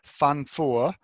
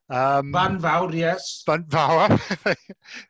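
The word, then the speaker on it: Fan Fawr: Across the road from it is another summit called Fan Four. Van Vaur. I'm going to learn the pronunciations at least.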